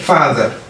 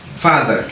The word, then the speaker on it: father: Léegi moom nan lañ koy prononcer booy prononcer comme si da nga naan comme si da ngay yokk da ngay xëcc a bi father. Ok, father. Donc accent bi fii nga yëkkati fa bi.